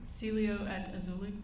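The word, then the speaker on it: Cielo Azul: again Celio aul say it one more time Celio at auli okay was that the name of of the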